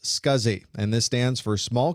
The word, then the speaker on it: SCSI: adding backwards compatibility you the abbreviation SCSI is pronounced scuzzy and this stands for small computer systems interface